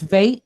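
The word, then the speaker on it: vet: the letter vate right it's vate it does not have a dot inside so it's going to sound like a v as the softer sound and it's pointed right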